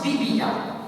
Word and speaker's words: Bébia: est un prénom aujourd'hui, Bébia, mais on le prononce Bibia. C'est en connaissance de cause. Je connais très bien les gens qui s'appellent, qui ont ce prénom. Donc Bébia, qu'on appelle Bibia.